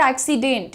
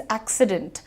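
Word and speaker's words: accident: एक्सीडेंट और बहुत बड़ी जनता है जो एक्सीडेंट बोलती है। बट इट इज़ नॉट एक्सीडेंट। इट इज़ एक्सीडेंट। डेंट light रखो।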